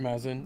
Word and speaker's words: Mazin: you've got Druckman, you've got how do you pronounce Mazin? Mazin, yeah, But correct.